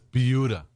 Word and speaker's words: Buda: It's not Buda, it's Buda.